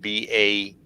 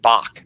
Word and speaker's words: Bach: the last syllable of B-A-U-G-H, which some people then end up pronouncing Baugh or Bog. Well, it's really the German Bach, B-A-C-H is what it originally was.